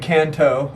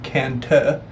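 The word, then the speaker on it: Cần Thơ: hey we're here in Kanto or as we just learned it's pronounced kanta which is three to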